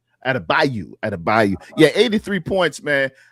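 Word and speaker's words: Adebayo: Adabago. Adabo or Bam. Adabio. Adabayu.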